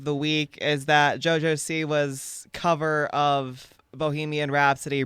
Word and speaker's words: Siwa: siwa first of all was JoJo Sawa I don't know how to say it sewa it's sewa it's sewa okay JoJo sewa okay sewa yeah you guys